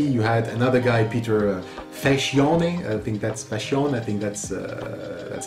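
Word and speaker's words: Facione: And later on, in 1990, you had another guy, Peter Fascione, that's how it is pronounced.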